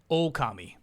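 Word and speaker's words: Ōkami: No, the line over the O is in, like, Okami. Ghost of Yote's got the line. So, it just means you fucking hit that O. Oh. Okami.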